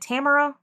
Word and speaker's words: Tamara: kind of the things that forced Is it Tamara? Yes. Am I pronouncing it right when I say Tamara?